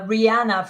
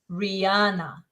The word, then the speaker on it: Rihanna: and another example uh Rihanna from umbrella that a sound is right there in the first syllable Rihanna it's subtle but important okay have we got